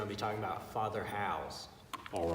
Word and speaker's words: Howze: him well but I got to meet father house and that is spelled won't you're spelling right with a Z